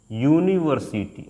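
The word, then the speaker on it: university: आयन लगा देते थे लेकिन इसका उच्चारण क्या होता है दोस्त उच्चारण की अगर हम बात करते हैं इसका उच्चारण होता है यूनिवर्स यूनिवर्सिटी अब जो भी आप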